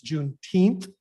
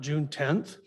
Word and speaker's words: Juneteenth: reading of that proclamation it's juneteenth not june 10th most of those words